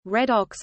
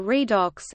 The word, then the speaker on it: redox: Redox, short for reduction oxidation reaction, pronunciation redox or redox, is a type of chemical reaction in which the oxidation states of atoms are changed.